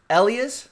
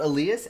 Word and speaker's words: Elias: to William who's saying it's Elias not aleus Elias Peterson I think